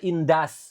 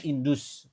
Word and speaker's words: industry: Dan ini cara bacanya indas bukan indus.